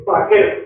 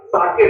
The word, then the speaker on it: Sakir: साकिर, SAKIR, साकिर, इसको साकिर, ये pronunciation है, ऐसे ओग्लो, OGLO, साकिर